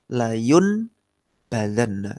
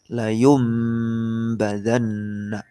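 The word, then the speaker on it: لَيُنْبَذَنَّ: Tulisannya seperti ini. Layun badanna. Tapi bacanya bukan nun diganti mim. Layum badanna. Layum badanna. Nunnya diubah jadi mim.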